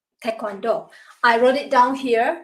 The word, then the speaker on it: Taekwondo: So, T-A-E, people call it Tae or Tai, and then the second one, Kwon, K-W-O-N, people call it Kwon or Kwon. So the last one is Do. So you combine 3 syllables, it becomes Taekwondo.